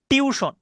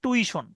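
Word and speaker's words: tuition: পারে আই আই ভুল হতে পারে কিভাবে যেমন টিউশন আমরা বলি টিউশন কিন্তু উচ্চারণটা হয় একচুয়ালি টুইশন মানে আপনি যদি অক্ষর ধরে করেন তাহলে উচ্চারণ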